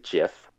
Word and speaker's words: GIF: pixelated gif exactly um oh you say jiff i mean that's the proper way to say it it is but i